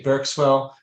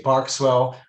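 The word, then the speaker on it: Berkswell: nobody will really care The Producers would say burkswell other people say bark swell it doesn't matter as long as you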